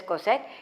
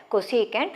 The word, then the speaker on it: cosecant: five alphabets don't treat it as cosec some pronounce it as cosine it is a rather odd better you read it as cosecant you pronounce it as cosecant theta and how do you define this one